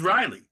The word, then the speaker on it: Riley: smile well at least my name rhymes with smiley my name is Riley Riley glad to